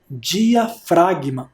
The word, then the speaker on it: diafragma: Aquela seta de baixo é o músculo, que eu já falei na aula, é o músculo diafragma. Olha como se escreve diafragma. Diafragma, com o G mudo.